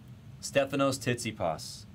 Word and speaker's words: Stefanos Tsitsipas: Stefanos Tsitsipas. Pronunciation is correct.